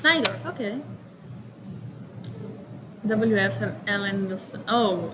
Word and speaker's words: Najdorf: It's Najdorf.